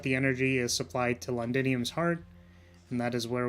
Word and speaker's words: Londinium: They're the veins of Londyminium. I think I'm gonna, like, say it correctly today, because it actually tilts me to say it incorrectly. They're the veins of Londinium. Londinium. Londinium.